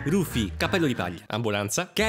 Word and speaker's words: Rufy: protagonista rapper nell'adattamento italiano lui si chiama lupi però ci sono poi quelli che vogliono la pronuncia giapponese quindi rufy cappello italy ambulanza che